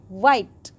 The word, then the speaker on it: white: WH says W. Then I. Then T. The word is ending with a silent E. White.